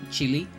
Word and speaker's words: Chile: Like, most people pronounce the name of my country Chile. I just say Chile. I don't give a shit because that's how we say it.